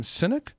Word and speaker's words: Sinek: Would I pronounce that name Sinek?